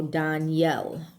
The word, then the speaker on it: Daniel: Okay, so Dan, D-A-N, the long A, Dan, stands for judge. And Elohim is for God. So Daniel, right, is how it would be pronounced.